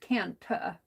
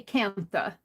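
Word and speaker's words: Kantha: Even though it's spelled Cantha, it's pronounced Canta.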